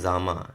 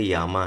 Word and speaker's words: jama: अब यहाँ पे लिखा है, जब आप इसको रीड करेंगे, प्रोनाउंस करेंगे तो ये लिखा है जामा, लेकिन स्लोवेनियन लैंग्वेज में ज को य ऐसा कुछ प्रोनाउंस है इनका। तो ये जो जे है उसको य प्रोनाउंस करते हैं, तो ये जामा नहीं होकर के यामा है।